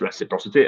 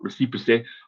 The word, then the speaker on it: reciprocity: 10 minutes before that it is pronounced reciprocity and is not reciprocity or reciprocity that I was trying to say for a few times before, but it is effectively,